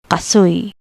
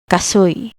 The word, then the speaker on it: kasoy: Uy, like gooey. Example, kasoy, kasoy, cashew.